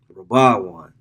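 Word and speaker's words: ראובן: unto Israel your father Reuben rabaran that's how you say it in the uh the Hebrew right Thou Art my first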